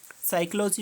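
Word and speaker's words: psychology: Design में क्या silent आपका, DESIGN, साइकोलॉजी में क्या, P।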